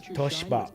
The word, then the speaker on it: Toshiba: Dave, did you know that Toshiba is pronounced in Japan as Toshiba? Yep. The I and really the I is silent, so they jumble it together. Toshiba. And it's not Toshiba. Toshiba.